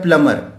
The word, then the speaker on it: plumber: हम लोग जो 95, 96, 97% लोग इसे प्लम्बर बोलते हैं, लेकिन इसका जो करेक्ट प्रोनाउंसिएशन होता है वो होता है प्लमर, प्लमर, प्लमर। Correct pronunciation is प्लमर।